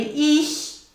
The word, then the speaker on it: ich: Now, the ich goes as far as the top of your palate, so you have to get as far as the top of your palate.